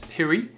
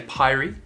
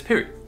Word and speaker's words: Pirie: Well, I just pronounced it then, it's Pirie. A lot of people say Pirie, a lot of people say, but it's Pirie.